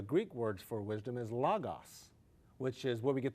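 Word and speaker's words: λόγος: You'd say logo in English, Okay. but in Greek it's logos, and it means the word.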